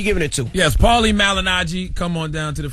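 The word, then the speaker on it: Malignaggi: How you pronounce his last name? Malinaji.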